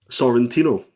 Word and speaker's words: Sorrentino: Sorrentino.